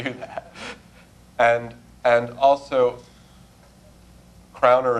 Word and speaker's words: crowner: that and and also crowner is a two- syllable word and carer is a three syllable word so you're changing the